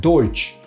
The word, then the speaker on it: Deutsch: So Dutch is actually a mispronunciation of the word Deutsch, and Deutsch means German.